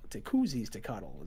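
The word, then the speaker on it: Tecuziztecatl: it's Tekuzi's Tekatl. Tekuzi's Tekatl is how you're supposed to pronounce it, apparently.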